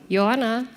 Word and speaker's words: Joanna: Yes, and we have the great honor to present the chair of the jury, Joanna Krawczyk, or Joanna, to pronounce it correctly, sorry.